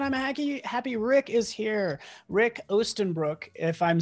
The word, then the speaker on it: Rik Oostenbroek: Rik Oostenbroek, if I'm saying your name correctly, can you just correctly like tell me how you say it so much cooler? Dude, you killed it. It's Rik Oostenbroek, which is translates into Eastern pants in English.